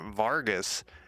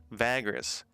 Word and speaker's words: Vagrus: realms today uh i keep calling it vargas and i keep having to crack myself i literally have to look at the at how it's spelled vagrants vagras uh and i'm actually